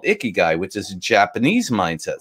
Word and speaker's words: Ikigai: It's Ikigai. Okay, is how it's spelled.